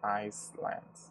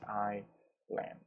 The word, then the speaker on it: island: are individual islands remember that we never say Iceland we don't pronounce the air we say I land okay and we use three articles with oceans